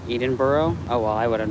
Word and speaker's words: Edinburgh: Sean, you said Edinburgh wrong. It's pronounced Edinburgh.